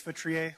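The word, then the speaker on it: Feutrier: Hi, my name is Vestri. Last name is spelled F as in Frank E U T as in Tom R I E R.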